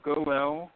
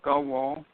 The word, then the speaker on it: Goel: There's a Hebrew word that I didn't know of until quite recently, and you could pronounce it either Goel or Gawal, but if you're looking